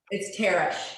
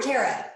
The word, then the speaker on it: Tara: But unless people ask, is it Tara or Tara? And by the way, phonetically, Tara should be T-E-R-A. Just so you know, it's T-A-R is tar, right? You wouldn't say tear on the road.